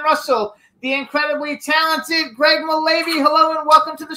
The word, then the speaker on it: Mullavy: I think is how we pronounce it. Mullavy. Hello. Mullavy it is.